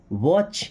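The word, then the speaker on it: watch: वॉच, यहाँ पे T silent है ना, आपने पढ़ा होगा कि वॉच का मतलब होता है घड़ी, ये बचपन में ही पढ़ा दिया जाता है।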